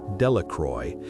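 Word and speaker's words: Delacroix: The villagers pronounced this name Delroy, eventually made a great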